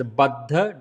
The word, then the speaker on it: Baddha: It is Baddha. Don't say Baddha.